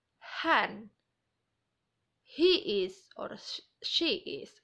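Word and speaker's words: hän: is the same so how to say it is han he is or she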